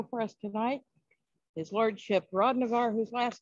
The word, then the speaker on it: Hrodnavar: with us tonight okay so uh hi I'm Rod Navarre is my last name but proud Navarre